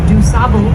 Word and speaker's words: DuSable: I had a man from France recently on my tour, and he did not like the way that I pronounced DuSable.